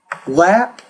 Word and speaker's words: lap: flab or cap cab lap lab so when it ends in B the vowel will be longer when it ends in P the vowel is going to be shorter and the way that